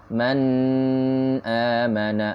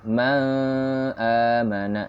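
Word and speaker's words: مَنْ آمَنَ: Lihat, tidak ada dengung, ya, bukan man amana atau ma amana, tapi man amana.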